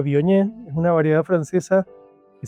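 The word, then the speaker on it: Viognier: El Bognier se escribe con corta, Biognier se pronuncia Bioñ.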